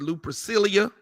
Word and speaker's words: Lupercalia: pull up pull up Lupa Calia Looper Kelly and just Google lupercalia l-u-p -e-r-c-a-l-i-a lupacalia people pronounce it Lou Priscilla I think either one is correct you know knowing that